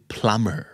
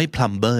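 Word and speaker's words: plumber: b e r แต่ บี ใน ที่ นี้ เป็น ทราย เล่น บี ไม่ ออก เสียง เพราะ ฉะนั้น คำ นี้ คือ Primer มี ความ เออ ไม่ ทัมเบอร์ นะ ครับ ความ เอ้อ ช่าง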